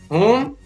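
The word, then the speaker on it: whom: और जो WHO से शुरू होने वाले शब्द हैं उसमें भी W का उच्चारण नहीं होता है, तो हु, हुम, हुज और हॉल।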